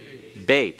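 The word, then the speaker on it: bet: Olive all right the second letter is called bait everyone bait all right and notice that the bait is written both with a dot in what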